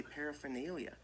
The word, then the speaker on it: paraphernalia: this art okay so this R is silent when at least when I say it when most people I know say it they say paraphernalia paraphernalia not paraphernalia so if you want to